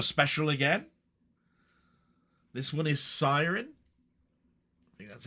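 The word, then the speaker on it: Siryn: This one is Siren. Think that's how you pronounce it. S I R Y N. Siren.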